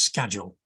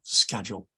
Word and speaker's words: Scagell: and I hadn't discussed how my name is pronounced which always causes problems and for the for the record the name is schedule there you are schedule and the uh my uh interesting glow worm